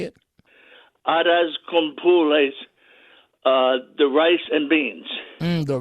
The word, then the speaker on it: arroz con pollo: Now, how do you pronounce it one more time? The rice and beans. How do you say it? Arroz con pules, the rice and beans.